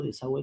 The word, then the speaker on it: desagüe: date cuenta de software si yo quiero pronunciar la uv por eso digo desagüe de conciencias sino también lingüística